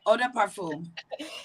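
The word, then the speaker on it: eau de parfum: fluids like the finest ah de parfum if i said that correctly you said it right oda parfum yes so they said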